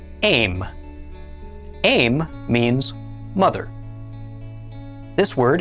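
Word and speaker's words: אֵם: This one is spelled aleph mem, with a tzera under the aleph. This word is pronounced aim.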